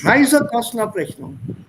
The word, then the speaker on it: Reisekostenabrechnung: Reisekostenabrechnung. Reisekostenabrechnung. Abrechnung. Abrechnung. Is it an Abrechnung oder Reisekosten? Sir, Reisekosten. So the stress is only on the Reise here.